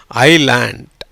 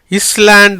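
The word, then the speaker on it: island: எப்படி வருது, ஐலேண்ட். எப்படி, ஐலேண்ட். இஸ்லாண்ட் இல்லை, ஐஸ்லாண்ட் இல்லை. ரைட்டா? ஐஸ்லாண்டு இல்லை, இஸ்லாண்டு இல்லை. எப்படி சொல்லணும், ஐலேண்டு. பிகாஸ் அந்த எஸ்ஸுக்கு உச்சரிப்பு கிடையாது. ஐக்கு அப்புறம் வர்ற எஸ்ஸுக்கு உச்சரிப்பு கிடையாது.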